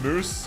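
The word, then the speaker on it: Mousse: It's Moose. It's not Mouse, it's Moose. Yeah, I know her name is pronounced Mouse, but she's a cat, so I find it funny to call her Mouse.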